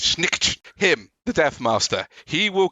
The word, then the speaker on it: Snikt: Because Skaven assassins, and particularly Deathmaster, oh god, I can't pronounce his name, Deathmaster Snikt, meant to sound like the sound of a knife coming out of his shift, Snikt, him, the Deathmaster, he will come for you.